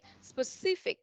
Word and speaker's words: specific: Mọi người chú ý giúp em là mình sẽ nhấn vào trọng từ hai. Okay, specific, specific.